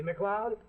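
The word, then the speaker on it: MacLeod: See, McLeod? Sounds like Cloud, but it's spelled M-A-C-L-E-O-D.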